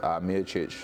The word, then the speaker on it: Peričić: I like the correct pronunciation of his surname there as well, Peričić. Everyone calls him Jocic.